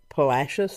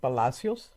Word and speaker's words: Palacios: People pronounce it Palacios. I pronounce it Palacios. I prefer to pronounce Spanish names in Spanish because I do speak Spanish, not fluently, but enough to be a little bit dangerous.